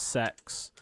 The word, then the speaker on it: CeX: so actual retail then i've got cex which is pronounced sex which is like an